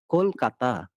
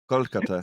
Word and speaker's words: Kolkata: In our language, we call it very melodically like Kolkata. Kolkata. So Kolkata, you don't pronounce it. You see, With don't pronounce the with T and the a D. hard T, a Kolkata or Kolkatha. Kolkata. Kolkata. Like the Dutch and the French say T and D, the and the, not T, the and the.